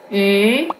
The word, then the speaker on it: 鱼: Is this first, try to pronounce the E. Lee. Tree. And then try to slowly round your mouth. E. Like that. And then add the tones. For fish, is the second tone. E.